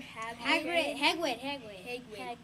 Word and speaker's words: Hedwig: Hedwig. I know how to remember his name. Think of a wig.